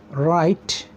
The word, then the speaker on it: write: race ring number two w r w is silent here actually for example write wrote read number three RH RH